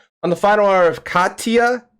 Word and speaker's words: Katia: can get this right katie i'm wrong because actually my name is katia like oh so we we pronounce it katya katya yes okay the